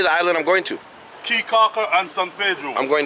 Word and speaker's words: Caye Caulker: Caye, Caulker, and San Pedro.